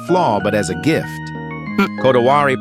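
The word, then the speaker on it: こだわり: Kotowari, pronounced kodawari, doesn't translate cleanly into English.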